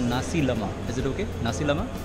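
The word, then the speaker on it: nasi lemak: है एक Malaysian breakfast है, इसको बोलते हैं नासी लमा। इज it okay? नासी लमा, NASILMA, हाउ डू you spell it, the pronounce it?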